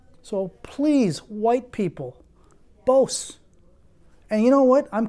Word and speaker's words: Bose: that I love and cherish both not Bose okay pause all right